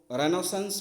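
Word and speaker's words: Renaissance: The word रेनेसेंस जो होता है ब्रिटिश इंग्लिश में बोला जाता है, रिनेसेंस जो होता है वो अमेरिकन इंग्लिश में बोला जाता है। तो प्रोनाउंसिएशन में थोड़ा सा ध्यान रखिएगा।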